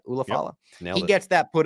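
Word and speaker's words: Ula Fala: Ulafala.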